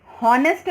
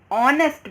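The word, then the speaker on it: honest: एंड हॉनेस्ट मैन नहीं, एंड ऑनेस्ट मैन, H silent हो जाता है, ओ से प्रोनाउंसिएशन वॉवेल साउंड देता है ओ का, इसलिए हम यहाँ पर एन लगाते हैं।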